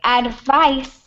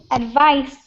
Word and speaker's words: advice: advise advise yeah so when it's the verb advise it's pronounced like that uh and that's the verb okay advice advice is the noun okay so they're pronounced slightly different okay all right so